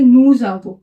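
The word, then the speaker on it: nous: वल से स्टार्ट है तो इसलिए हम इसे प्रोनाउंस करेंगे नजब क्या बोलेंगे नूज वो वैसे ही ये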